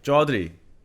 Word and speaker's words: Chaudhry: Chaudhry.